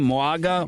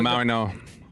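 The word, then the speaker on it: Mauigoa: Moaga? No, Maui Noah. What? Maui Noah. There's no N in it.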